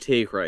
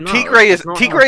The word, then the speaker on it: tigre: Well, Tigre is a word. It is tiger in like Spanish, and it is pronounced Tigre.